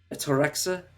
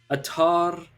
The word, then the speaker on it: ataraxia: Which, obviously, if you have, God, how do you pronounce this? Atorexa? Ataraxia.